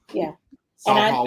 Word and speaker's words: SaulPaul: Like, it's not Saul. It's SaulPaul, one word.